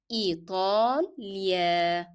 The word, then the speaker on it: إيطاليا: And remember to make ta as a hard sound and apply the long vowel. So pronounce all the long vowels with lengthening them. إيطاليا.